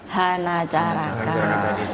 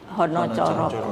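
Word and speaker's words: Hanacaraka: juga pakai tapi pakainya Hana Caraka lah. Padahal tulisannya di sini pun hana caraka. Iya cuma pengucapan. Tapi kalau kita yang bahasa yang Jawa Tengah Jawa Timur itu bacanya Honocoro.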